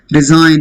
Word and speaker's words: resign: Resign, again. Whenever GN is there, G is silent.